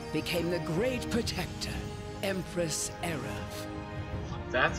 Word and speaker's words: Erev: What remained of her power became the great protector, Empress Erev. That's how you pronounce it.